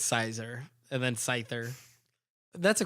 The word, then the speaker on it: Caesar: That's not how you pronounce it. That's how I pronounce it. I think it's funny. I think it's Caesar. It's Sizer.